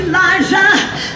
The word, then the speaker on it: Liza: Okay, it's Liza with a Z, not Lisa with an S, because Lisa with an S goes not Z instead of S, Liza with a Lee.